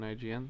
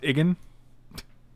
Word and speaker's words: IGN: 6.3 out of 10 on IGN. That's not bad. It's pronounced Igan. Dummy. Igan. I'm egging your mom.